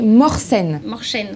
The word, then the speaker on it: Mohsen: Alors figurez-vous que c'est Mohsen.